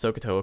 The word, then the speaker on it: SOHCAHTOA: So the first thing to keep in mind is to pronounce Sohcahtoa correctly, because otherwise then it's not going to be spelled this way, and that's the point of it.